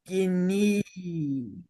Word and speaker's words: yogini: yogini. Say Yo. Yogini. Yogini. Yogini. This word does not rhyme with bikini.